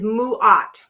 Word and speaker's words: Ma'at: I heard Ma'at, not Mu'at, but whatever. A doesn't sound like a U, but if that's it, Mu'at, then that's great for them. Well, I'm gonna stick with Ma'at, so I'm gonna stick with what I got.